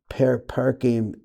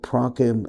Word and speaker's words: prakim: gimel pamem chesed, with the gimel parkim, that's right, I said it wrong, im gimel prakim chesed, so you're taking the hip level, and you're pushing it onto the right arm.